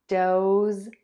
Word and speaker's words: does: Does, does, does, doʊz, doʊz, doʊz, does, doʊz, does, doʊz.